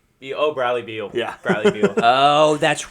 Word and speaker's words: Bradley Beal: His last name rhymes with seal. Bradley Beal.